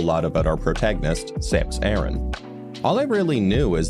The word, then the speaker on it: Aran: In English, pronunciations vary from Aran to Aran, but in Metroid Prime 3 Corruption, we got the correct pronunciation from one of the voice actors, which is Aran.